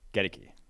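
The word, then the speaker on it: Goedeke: than 108th and it's luka decky gediki gotta get it i looked up the pronunciation of the guys gediki which still doesn't make sense to me but the central michigan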